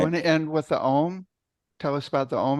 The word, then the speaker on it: AUM: It was a 3-syllable thing. And the AUM is the way it's spelled. And each of those is a separate syllable. So it's Om, 3 distinct syllables.